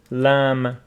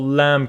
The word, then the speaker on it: lamb: And also lamb. This is lamb, for example, lamb kebab. It's not lamb, lamb kebab.